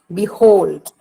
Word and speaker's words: behold: The word, the syllable hold. B is not that heard. Hold is heard much. Behold.